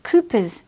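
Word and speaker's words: Cowper's gland: counters the acidic environment another accessory gland is kooper gland it is pronounced Koopas even though it is a strange spelling Koopa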